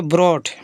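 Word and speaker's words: brought: और इस तरीके से अर्ध Chandra ji एच जी एच इसमें साइलेंट होगा इसको मतलब इस जी एच से कुछ नहीं होगा टी सेटा ब्रॉट ठीक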